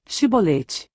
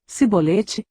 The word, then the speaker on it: Chibolete: Se respondesse que não, diziam: "Então diga Chibolete." Se ele dissesse cibolete, sem conseguir pronunciar corretamente a palavra, prendiam-no e matavam-no Jordão.